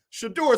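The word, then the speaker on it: Shedeur: should do her down it don't say the name wrong shador I said it wrong I said it wrong shador Sanders this young man who one commentator said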